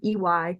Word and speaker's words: Hommey: at Hommey, and it's Hommey, not spelled like homie as you would say, and also on LinkedIn under the same name.